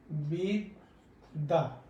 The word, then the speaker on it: বিদ্যা: আমরা বলি হচ্ছে বিদ্যা। এই যে দুইটা জ উচ্চারণ হয়েছে, এটা দুটো দ উচ্চারণ হয়েছে। কেন হয়েছে? শব্দের মাঝে এবং শব্দের শেষে যদি জ ফলা থাকে, তাহলে তার উচ্চারণ হবে দ্বিত্ব, মানে দুইবার উচ্চারণ হবে।